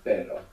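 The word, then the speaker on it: pero: RS together inside the word is going to pronounce this Double R so the word for but in Spanish is per p e r o and the word for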